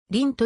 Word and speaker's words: 厘: 中国では今でも得ると発音するが日本ではいつからかりんと読むようになった損し産経に